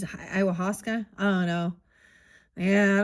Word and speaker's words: ayahuasca: I always pronounce this wrong. I would say ayahuasca. Iwasaka. It is ayahuasca.